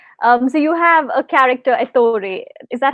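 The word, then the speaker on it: Ettore: the shadow king so you have a character Authority is that how you pronounce it yes and he is a photographer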